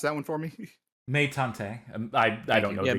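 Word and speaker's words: Meitantei: Meitante. I don't know. Yeah, it's basically Great Detective Sanma. Yeah, Meitante.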